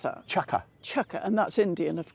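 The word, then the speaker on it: chukka: it is and that's a chucker how you pronounce that chucka chucka and that's Indian of course it is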